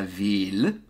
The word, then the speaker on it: ville: So, city is la ville, and family is la famille. No L's. So it's not la famille. That is wrong. La famille. So, city, la ville, pronounce the L's.